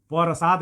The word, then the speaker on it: प्रसाद: है पूरा हो गया यहां र भी पूरा है यानी कि ये वाला रूप जो होता है यह आधा न नहीं है आधा र नहीं है बल्कि पूरा र है इसमें आधा क्या है प है परसाद में आधा प प है और र पूरा है अब इसको अंग आसानी